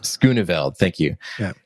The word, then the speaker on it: Schooneveld: sorry, I need to ask him how to pronounce his name properly. It's Schooneveld. Schooneveld, thank you.